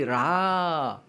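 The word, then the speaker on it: רע: 이 라 도레미솔라시도 할 때 라라고 하는 발음인데 히브리어로 라가 뭐냐면 악마, 악.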